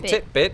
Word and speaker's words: titbit: maybe yeah tibit basically titbit which for those of you wondering rhymes with Fitbit is an alternate spelling